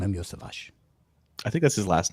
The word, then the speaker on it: Iosivas: It's Iosivas.